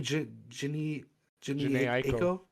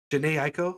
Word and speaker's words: Jhené Aiko: Jhené Aiko. Jhené Aiko.